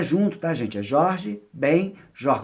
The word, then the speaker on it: Jorge Ben Jor: é junto da gente Jorge Ben Jor como se fossem dois sobrenomes pessoas costumam juntar mas não és muito mais separado então quando ele colocou